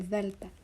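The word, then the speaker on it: Δέλτα: O then we have ZTA ZTA makes the sound of th H in the article the so Delta the the like in the then we have Epsilon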